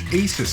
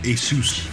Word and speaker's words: ASUS: foreign Asus monitor it's Asus actually I remember one guy who called it Asus I was like oh